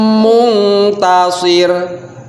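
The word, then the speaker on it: منتصر: Muntasir ditahan, nunnya ditahan, nun sukun tapi ditahan.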